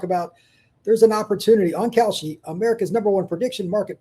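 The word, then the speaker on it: Kalshi: is you want to talk about, there's an opportunity on Kouchy, America's number one prediction market platform that you can trade predictions in a live market.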